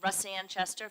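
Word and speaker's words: Russanne: It's Rusanne Chester for the record. It's spelled R-U-S-S-A-N.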